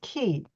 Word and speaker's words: Ki: of Qi is Chinese if you see Ki that's Japanese and it's and it's pronounced key and then if you